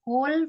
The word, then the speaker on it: whole: Jadi my whole family, whole ya. My whole. Oh, itu tulisannya yang WHOLE ya? Iya. WHO, WHO, whole. Bacanya W-nya itu silent ya, atau nggak usah dibaca.